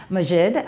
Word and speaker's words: Maajid: It is uh Majid.